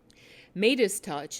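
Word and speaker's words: Meidas Touch: 7 hours ago, wrote, Midas Touch, it's spelled M-E-I-D-A-S, Midas Touch, Mercado Media, and Status Quo all disseminated CUI info to their followers.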